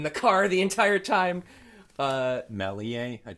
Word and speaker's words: Méliès: Méliès. Méliès. Okay, George Méliès. Thank you.